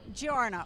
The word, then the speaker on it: Giorno: Fest I am with and um I pronounced your last name for me Giorno okay grew up in Illinois yep and